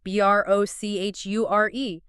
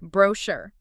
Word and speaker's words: brochure: For many words that English adopted from French, the UK tends to put the stress on the first syllable, whereas the US tends to put it on the last syllable. Give me some examples. Think of B-A-L-A-T. In the UK, you'll often hear B-A-lit. In the US, it's B-O-L-A, or B-R-O-C-H-U-R-E. UK, brochure. U.S. brochure.